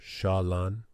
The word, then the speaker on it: Chelan: the state of Washington the lake is called Lake shalan pronounced shalan meaning beautiful water long long ago the